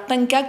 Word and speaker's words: Pencak: Alors Penchak, c'est P-E-N-C-A-K pour cette fois.